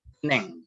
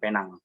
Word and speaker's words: Penang: Tapi saya koreksi sedikit ya, itu ejaannya Pineng. Pineng, bukan Penang. Oh, Pineng. Tulisannya itu Penang.